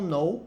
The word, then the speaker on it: know: souber e fio do now now eu verbo saber conhecer né o k ele não é pronunciado nessa palavra Então você fala no